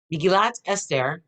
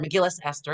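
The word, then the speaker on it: מגילת אסתר: Megillat Esther, or the book, or Megillas Esther, if you're going to say with an Ashkenaz pronunciation.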